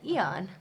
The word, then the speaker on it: Aeon: Yeah, and then we clicked the pronunciation button, and it went Eon, and we said, "Oh, we are now Eon."